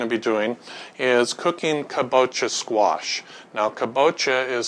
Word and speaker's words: kabocha: what we're going to be doing is cooking caboa squash now caboa is spelled c a b o c h a